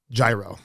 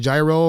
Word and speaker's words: gyro: But I'm supposedly saying gyro incorrectly. I've been saying gyro, Americanized. I feel like it's the American word for it. Right. So what's the proper way to say it? Well, can we blame anyone? I mean, it's spelled with a G, you know. There's a Y in there. Yeah, it's Y, you know, gyro.